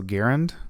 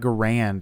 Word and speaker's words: Garand: garand i don't know supposedly it's pronounced like aaron you know like i need to go run some errands uh so garend or i just i don't like garand just rolls off the